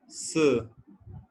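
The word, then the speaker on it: 四: तो 4 को हम क्या कहते हैं, 4 की प्रोनाउंसिएशन क्या होती है, स। स हम यहाँ पे कहेंगे स तियन, स तियन।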